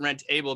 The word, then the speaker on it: rentABLE: here they you know i pronounce it rent able because if you look at it in in how it's it's printed it's rent and then a b l e able is in caps um so obviously that